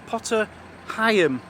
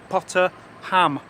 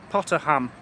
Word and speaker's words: Potter Heigham: we are at too dear a place called pata Higham now that's how it's spelt but it's actually pronounced local is pata ham I don't know how they get ham out